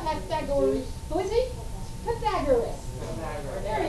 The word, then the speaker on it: Pythagoras: He's not Pythagoras. Who is he? Pythagoras. There he is. He's like toga and everything. That's how you say it. Pythagoras, right?